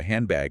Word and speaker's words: handbag: First, it drops a sound, which we'll discuss next, and then it assimilates. The N feels the gravitational pole of the B in bag, and it morphs. So, handbag becomes handbag.